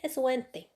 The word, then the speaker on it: sont: SON et SONT, ils se prononcent de la même façon, son.